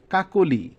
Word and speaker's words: কাকলি: তো 1 নম্বর নিয়মটা হচ্ছে, মধ্য অ এর পরে যদি হ্রস্বই, হ্রস্ব বা তার কার চিহ্ন থাকে তবে অ এর উচ্চারণ ও এর মতো হবে।